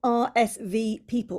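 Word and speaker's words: RSVPeople: And if you're wondering how that's spelled, it's like RSVP, like a letter, and then Eeple at the end. Yes. Yeah. It becomes People.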